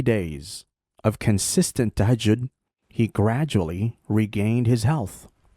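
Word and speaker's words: تهجد: I called it tajahun. I didn't know how to pronounce it. So tahajjud.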